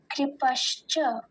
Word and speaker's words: कृपश्च: इसमें ककार के नीचे ऋकार है, तो हम उसका ध्यान देंगे। तो वैसे तो ये आसान ही है, कृपश्च।